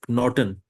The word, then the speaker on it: Knoten: And the third word is knoten. Knoten is knot. So in these three words, we pronounce K and N both.